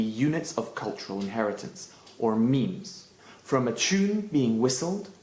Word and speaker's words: meme: us the word mime, but he shortened it to make it rhyme with gene. For Dawkins, a great many things could be units of cultural inheritance, or memes, from a tune being